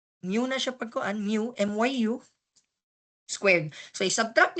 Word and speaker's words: mu: greek letter na mu ang spelling niya mu pero pagpronounce myu mu Okay si kani